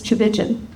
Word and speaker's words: Tchividjian: lot of continents but it starts with a t c h the t is silent it's starts with a CH like church cha and it runs